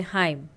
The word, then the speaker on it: hymn: कुछ और एग्जांपल है इन the words given below the letter N is silent अपीयरर्स with M एट द एंड ऑफ़ the word जैसे हाईम kolam autumn सोलम तो इनमें क्या है